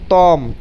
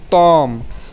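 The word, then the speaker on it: Том: তখন এটার উচ্চারণ হবে তম, তম। কিন্তু এটাই যখন বাংলাতে বলবো তখন এটার উচ্চারণ হবে টম। ওকে, টম টম। কিন্তু রাশিয়ান ভাষায় উচ্চারণ করতে গেলে এটার উচ্চারণ হবে তম।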